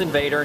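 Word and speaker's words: InvadR: good view of invader and yes it is pronounced invader not invader at least that's how they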